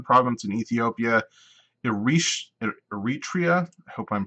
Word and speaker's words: Eritrea: a region Northern Region I know that now Eritrea is how you pronounce that G gray T gray that's right